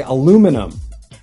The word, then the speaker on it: aluminum: In the UK, they would say aluminium. And in the US, they would say aluminum.